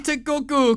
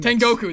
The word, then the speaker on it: Tengoku: the multi-platform at the end, we have Game Tekoku Cruisin' Mixer. Why do I feel like that's not how that's pronounced at what?